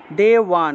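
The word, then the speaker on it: দেবান্: তারপরে দেওয়ান, দেওয়ান ব থাকায় ওয়া উচ্চারণ হবে, দেওয়ান, দেওয়ান, এইভাবে।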